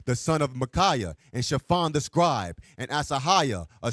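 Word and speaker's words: Shaphan: Chafon read the Bible to the king Josiah.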